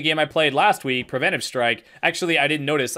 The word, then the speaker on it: Preventive Strike: This is better than the game I played last week, Preventive Strike. Actually, I didn't notice. I mispronounced it in the intro. I said Preventative Strike.